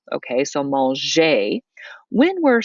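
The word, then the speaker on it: manger: verb like maljee okay the g remember in french is pronounced j okay so mol jay when we're saying all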